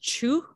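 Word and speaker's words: Chöd: to her is called is spelled c-h-o-d um i think it's pronounced chu but i'm not 100 sure but it's pronounced true which means to cut through and um we can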